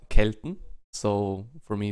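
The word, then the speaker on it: Celt: in German it's K Kelton so for me it's kelt Kelton right well in general it's definitely kelt and not selt but anyway all right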